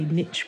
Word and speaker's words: niche: coming out, podcasts, newsletters, niche publications, or as Americans say, niche publications, and how decentralization is